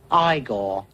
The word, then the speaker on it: Ygor: No, it's pronounced Ygor.